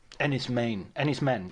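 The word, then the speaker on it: Enys Men: Ennis Men. Yes, it's pronounced men, isn't it? It's because the word is for an island. It's Cornish for island, apparently.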